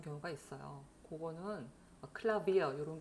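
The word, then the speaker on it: Klavier: 그거는 클라비어 이런 게 나오는데요. 그거는 이제 외래어라서 그렇다. 독일 입장에서 외래어라서 외래어의 원래 발음을 따라주는 것이다.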